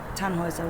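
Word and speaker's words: Tannhauser: why what's your name tan hazard we pronounce it tan hoiser with an unlocked german looks yes my grandpa exercise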